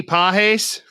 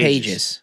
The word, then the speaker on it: Pages: Andy Pahes, his last name is spelled like Pais. Pages.